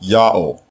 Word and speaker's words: Ya'o: So the name has to be pronounced Ya'o.